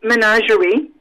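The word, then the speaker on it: ménagerie: how do you say that in french it's menagerie okay you basically have a bite yes good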